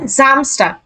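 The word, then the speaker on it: Samstag: Saturday কে বলা হয় জামস্টার জামস্টার এই যে এস বর্গীয় জ এর মত উচ্চারণ হবে শুরুতে আছে জামস্টার আর কোন কথা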